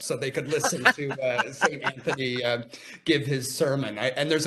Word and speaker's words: St. Anthony: And if you're from that area, you call it Saint Anthony, and St. Saint Anthony, and Anthony. Saint Antony is actually kind of closer to the original pronunciation, because Saint Antony was a saint.